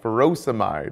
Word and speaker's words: furosemide: Potassium wasting ends in "-ide," like furosemide or hydrochlorothiazide. Both rhyme with dried.